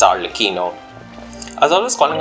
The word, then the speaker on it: Arlecchino: rain falls that reason and I know the pronunciation of our lakino it's our lakino as always calling our licino for some reason but it's all the keynote